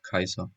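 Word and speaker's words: Caesar: grandmother Julia minor was the older sister of Kaiser she showed much affection and took a lot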